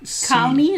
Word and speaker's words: Calne: Calney, is it? Is it Yeah. Calney? You pronounce it C-A-L-N-E? I always pronounce it Calney.